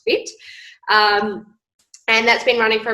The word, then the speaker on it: FHIT: So yes, I am I run a online fitness business called Fit by, F-H-I-T, but pronounced Fit.